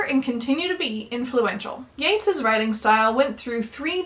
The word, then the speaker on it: Yeats: the way you pronounce Yates's name think great great gates great now let's go over some of the more important things Yeats saw himself as the